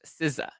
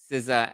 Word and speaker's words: SZA: I would see the SZA and I never knew that that's pronounced Siza, you know, Siza and Sza.